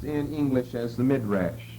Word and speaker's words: midrash: i d SCH and how would you pronounce that midrash that's the word we're